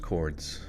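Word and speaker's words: Cordes: they say oh just Chords chords Junction okay it rhymes with words like Lords or chords pronounce with a short o sound in the first syllable and soft s sound quarts quarts cours yeah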